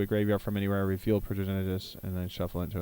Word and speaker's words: Progenitus: Progenitus? Progenitus. 2 white, 2 blue, 2 black, 2 red, 2 green. 10/10. Protection from everything. If Progenitus would be put into a graveyard from anywhere, reveal Progenitus and then shuffle it into its owner's library.